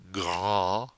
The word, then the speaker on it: grand: Now nasal in grand. The D is silent. If there were an E after that D, we'd hear it, and we'd have grande. But there is no E there, so it's a nasal.